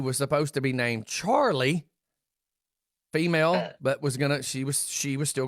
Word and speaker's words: Charleigh: Justin Adams' daughter's name is Charlie. Okay. And it's spelled Charleigh. For a year, I have called that child Carly.